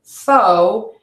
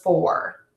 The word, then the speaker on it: four: of the sound so I often might hear the word foe instead of four is it only hearing